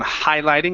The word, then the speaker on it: highlighting: Okay, let's pronounce this H on highlighting instead of highlighting.